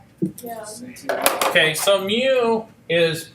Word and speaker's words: mu: work okay that's another Greek letter okay so mu is it's pronounced mu and it's like it's kind of